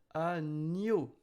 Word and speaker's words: agneau: Agneau. Remember, E-A-U are O. So, agneau, agneau.